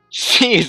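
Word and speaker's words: SEES: C's, that's how you say it.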